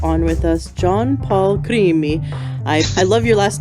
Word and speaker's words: Crimi: with us John Paul creamy I love your last name and who's saying it like you so you told me to say it like a like an Italian three minutes right beautiful